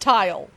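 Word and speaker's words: Tyle: yeah but still Tai it's pronounced tile I know okay it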